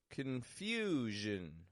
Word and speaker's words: confusion: quiet unstressed Vision confusion confusion three syllable word the stresses in the second syllable the vowel gets stretched out in there a little bit longer and then the Jin quick and quiet confusion so here's some quick phrases